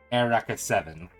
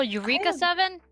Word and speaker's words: Eureka Seven: no I'm referring to the early 2000s Classic Air raka Seven oh Eureka Seven it's pronounced their record seven but yes yeah that's